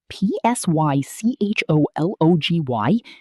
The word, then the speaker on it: psychology: p s y c h o l o g y. The p is completely silent. Psy-chol-o-gy.